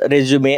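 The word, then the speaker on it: résumé: spelling सारखीच आहे पण याचा उच्चार जर आपण रेजमे कसा केला रेजमे असा जर केला तर याचा अर्थ होतो बायोडेटा आणि याचा जर उच्चार रिजुम कसा केला रिजुम तर याचा अर्थ होतो जिथे एखादी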